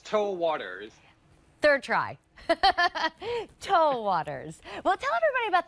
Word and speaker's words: TOA: is tau waters and i'm gonna find out if we say t-o-a or pronounce it as tau but first let's meet